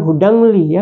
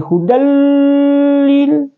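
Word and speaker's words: هُدًى لِّلْ: Contoh hudalli, jadi bukan hudangli ya. Bukan hudangli tapi hudallil.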